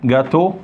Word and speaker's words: gâteau: Gâteau et cadeau. Voilà. Vous voyez? Donc, E-A-U, on la prononce O. E-A-U, c'est comme O, c'est comme O-T, c'est comme A-U. C'est bon?